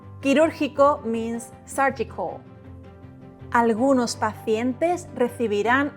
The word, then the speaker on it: quirúrgico: Quirúrgico. Q plus U plus I or E is pronounced que, ki.